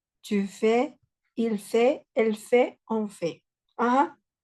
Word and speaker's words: fait: Pero estas últimas letras no se van a pronunciar tal cual. La pronunciación de estas tres palabras es exactamente la misma. Je fais, tu fais, il fait, elle fait, on fait.